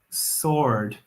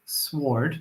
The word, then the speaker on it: sword: no good pronunciation there I'm gonna repeat that because it's important sword not sward no sore with a silent W and I guess I